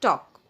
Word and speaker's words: talk: and write talk here you are not allowed to use i mean pronounce l because l is here silent so it will be not talk it will be talk so your diary is